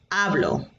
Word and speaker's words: hablo: the um alphabet yet notice the h in that word is silent so you don't pronounce the h's in spanish all right so take